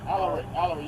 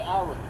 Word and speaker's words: Alaric: A-L-A-R-I-C. Last name. Alric. A-L-A-R-I-C. Alaric. Yep. Alric. You pronounce it like Alric.